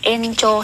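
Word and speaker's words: 延長: Nhưng mà nếu như mà nói vào, nói chung vào thì nó sẽ đọc là encho suru.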